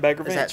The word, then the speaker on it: Bagger Vance: Yeah, The Legend of Bagger Vance. Is that pronounced right?